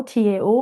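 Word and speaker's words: Dao: So Tao has 2 spelling and 2 pronunciation. Tao, T-A-O, or Tao, D-A-O.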